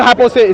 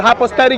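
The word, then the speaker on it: hypostatic: It's not hypothetic. It's called hypothatic union. If you don't know how to pronounce it, just say two natures.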